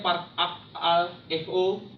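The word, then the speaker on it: παρακαλέω: Bahasa Yunaninya memohon itu adalah parakaleo, atau dalam pelafalannya parakaleo, yang artinya memanggil dengan dekat, memohon menjadi baik, keinginan, dan atau enggak berdoa.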